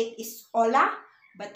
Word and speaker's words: hola: as H, but actually in the Spanish language, H is always silent. So if you saw a friend and you want to say hello, how you say it is hola, but how you spell it is H-O-L-A.